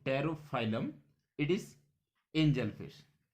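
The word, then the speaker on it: Pterophyllum: पी से spelling इसकी start होती है, तो टेरोफाइलम, इट is angel fish.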